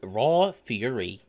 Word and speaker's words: Raw Fury: and the publisher is raw fury and no it's not raw fur furry spelled f-u-r-r-y it is fury spelled like fury rage so i'm gonna be